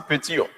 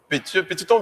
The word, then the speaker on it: Pétion: Mais là, vous prononcez le mal, il dit Petillon. Mais c'est Petiton. Petiton bien Pétion.